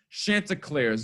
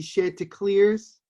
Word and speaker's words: Chanticleers: list the coastal carolina chanticleers now i don't know much about this team i'm not gonna lie to you i excuse me you need to say it properly it is the share to clears right excuse me [